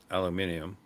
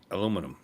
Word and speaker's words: aluminum: Oh, by the way, the correct pronunciation of aluminium is aluminum.